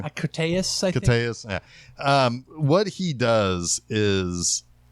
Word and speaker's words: Koteas: of the things that Elias, how do you pronounce his name? Koteas, I think. Koteas, yeah.